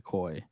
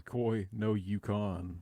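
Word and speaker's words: Koi No Yokan: I'm very new to koi and uh yeah it's it's fantastic I was obsessed for like uh six months man you're both pronouncing this wrong this is Koi No Yukon like that [ __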